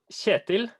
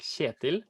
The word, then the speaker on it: Kjetil: Yeah, my name is Kjetil. That's how we pronounce it in Norwegian, like Kjetil.